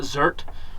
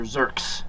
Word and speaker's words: Zerk: inside and get to zerk out is it pronounced zerk or zert it's a well it's a not zert and these are zerks zerks I've always called them desserts is it